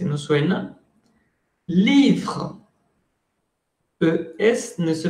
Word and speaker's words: livre: Livre, S no suena, E no suena.